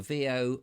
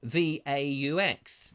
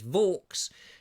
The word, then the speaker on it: Vaux: he says no it's Vaux it's Vaux it rhymes with knives and forks and it's great because